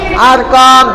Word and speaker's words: Arqam: Nah, Arqam ini tulisannya arqam ya, tapi bacanya arqam.